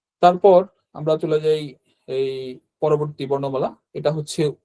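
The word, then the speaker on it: え: তো 2টা stroke order এখানে, একটা হচ্ছে এইটা স্ট্রোক অর্ডার মানে হচ্ছে এটা কিভাবে আঁকবো সেই অর্ডারটা আর কি, হ্যাঁ, এটা আমরা গত ক্লাসে বলেছিলাম।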